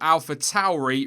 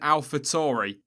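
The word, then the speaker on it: AlphaTauri: least seven pronunciations but he seemed to be hovering around alpha Towery rather than alpha Tory so I guess just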